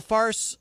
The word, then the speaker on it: Fars: that short for Farsi it's FA RS will call it FAR's because I feel pronouncing it farce I feel disrespectful like I'm not like I'm calling their news a farce maybe it is a